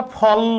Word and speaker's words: ফল: এরকম আমরা ফল বলি, তার মানে এখানে লয় শেষে অ এর উচ্চারণ নাই, ফল, থেমে যাইতেছি।